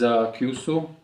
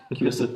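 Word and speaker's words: 急須: So here we are going to use this Kyusu. Did I pronounce it right? Yeah. Kyusu teapot.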